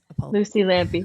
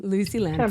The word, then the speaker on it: Lampe: have a beautiful guest Lucy Lampe am I pronouncing that correctly it's very close this lampy lampy just Lucy lampy Lucy lampy rolls off the tongue um and I've been